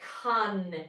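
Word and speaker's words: cun: They call it con in Chinese. It's spelled cu n.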